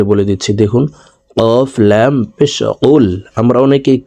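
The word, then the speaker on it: قُلْ: প্রিয় দর্শক আমি বানান করে বলে দিচ্ছি। দেখুন কফলাম পেশ কুল। আমরা অনেকেই কুল পড়ে থাকি।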